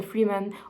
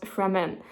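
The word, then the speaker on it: Fremen: trying to find the Freeman oh and those are pronounced fmen now of course I saw that those aren't spelled f r double e men so of course it wouldn't be free man but Fran but I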